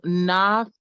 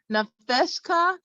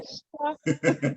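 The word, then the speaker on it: נַפְשְׁךָ: Oh, it is pronounced. Okay, so Nafshka Nafeshka. There you go. Nafeshka.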